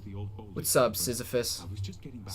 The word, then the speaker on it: Sisyphus: Sisyphus. Yeah. Lose it all for an express trip. Okay, yeah. We have confirmation. you are. Kevin 2 has confirmed that it is pronounced Sisyphus.